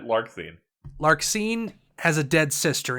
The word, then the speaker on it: Larxene: Larxene. Is that how you pronounce that? Or is it Larsheen? Yes. No, you got it. Larxene.